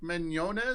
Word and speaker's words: Mignogna: lose your mind take a look at vic Mignogna is that the right way to pronounce it that's right yeah vic Wynonna's Star